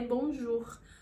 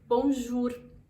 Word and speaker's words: bonjour: todo mundo conhece é Bonjour Bonjour Eu já vi muita gente pronunciando bom juro e não é não é necessariamente de errado porque todos nós temos